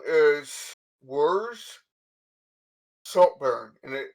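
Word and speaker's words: Werz: it yeah he too oh my name is worse saltburn and it's spelled w e r z and then salt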